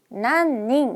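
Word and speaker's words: 何人: 난닝 니진 나닌 어렵습니다 자 요거 정답은요 난닝 이었어요 자 난닝 몇 명이라고 할 때는이 사람 인자가 으로 읽힌다는 거 알아두시면 좋겠고요 자 요주의 나니 진이라고 읽잖아요 그러면 어디나라 사람이냐는 뜻이 돼요 그래서 특이하게 한자는 똑같이 쓰는데 어디나라 사람이냐고 할 때는 나이징이라고 물어보고요 몇 명이라고 할 때는 난닝 쓰니까 문맥상 더 적합한 거는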